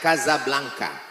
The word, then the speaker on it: Casablanca: kuliah nama negaranya Maroko ibukotanya tulisannya Casablanca Hai cara bacanya Gaza Blanca Gaza artinya rumah Blanca